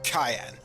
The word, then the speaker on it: Cyan: But, anyway, his name is Cayenne, spelled like cyan.